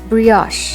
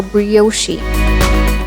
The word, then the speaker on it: brioche: We stress on the third syllable, Spanakopita. Brioche, a French yeasty bread with high egg and butter content. Most people mispronounce this as brioche, brioche, or brioche, but the correct pronunciation is brioche.